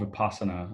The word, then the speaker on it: Vipassana: How do you spell it? Vipassana, Vipassana.